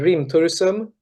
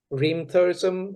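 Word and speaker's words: Hrimthursum: the next album title Primm Thome tell tell tell me about like that album yeah it's called Rim Thome Rim turism it's a Icelandic word for frost Giants so you you shouldn't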